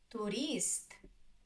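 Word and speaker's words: турист: Tourist. Tourist. Tourist. Two syllables. Tourist. The second is stressed.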